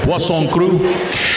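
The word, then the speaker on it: poisson cru: How many have you tried Pson crew? Oh yes, Pson. If you see it on the menu, it looks like poison, but it's how it's spelled only with two s's. But pon crew.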